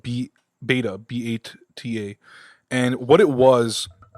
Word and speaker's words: b8ta: And we walked into this store called Beta, B8TA, pronounced Beta.